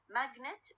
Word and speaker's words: magnet: For example, when I say magnet, okay? magnet الستريس على أول syllable magnet.